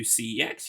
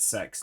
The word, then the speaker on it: CEX: Um, but that did give me some time to go to CEX yesterday. I refuse to call it sex, no matter how many times they pronounce it like that on the adverts.